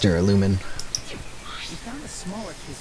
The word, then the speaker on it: duralumin: was the voice acting was in japanese it's pronounced duralumin we found the smaller kids for storing the